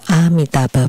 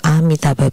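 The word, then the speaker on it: Amitābha: the a was lost can I change MAA Buddha to amitaba Buddha when I recite the hiking Sutra this also aligns with the correct pronunciation of amitaba Buddha repeatedly emphasized by by you Guru Buddha this kid is very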